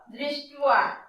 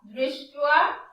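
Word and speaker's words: দৃষ্ট্বা: এই বটাকে আমরা উচ্চারণ করব তুয়া তুয়া তুয়া। তাহলে কি হলো? দৃष्ट्वा দৃष्ट्वा তু পাণ্ডবানীকং।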